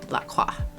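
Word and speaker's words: LaCroix: Ah, see I I don't think I've ever been around Lacroya. And French is technically supposed to say it. Laqua, which translates to the cross.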